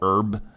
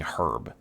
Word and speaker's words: herb: find it weird that as an American, we don't pronounce the H in herb. We just go herb. So I've kind of corrected myself into now saying herb.